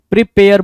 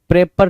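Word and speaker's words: prepare: चलो नेक्स्ट की तरफ चले, नेक्स्ट क्वेश्चन, क्वेश्चन नंबर 76, 76 क्या कह रहा है भाई, प्रिपेयर बोल रहा है ना, प्रेपर नहीं, प्रीपेयर, प्रीपेयर, राइट, प्रीपेयर की स्पेलिंग आपके सामने है।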